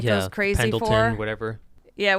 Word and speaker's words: Pendleton: everyone like goes crazy Pendleton, for. Whatever. Yeah, we said it wrong and it went Pendington.